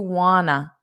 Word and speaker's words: want to: So notice that pronunciation. Do you wanna? Do you wanna go?